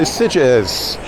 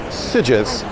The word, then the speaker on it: Sitges: I'm pronouncing it Sitges. And you think, oh, hang on, it's really in Spanish. That quirky little G should be a Sitges. But no. See, we're in Catalonia. You fools.